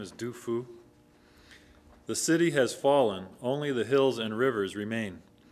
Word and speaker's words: Du Fu: This was written by a poet named Tu Fu, but more modern pronunciation really is Du Fu.